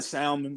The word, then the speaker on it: salmon: called you down salmon salmon salmon or salmon salmon salmon people call it different it's Salon it's the only way s so the L is silent yes yeah yeah yeah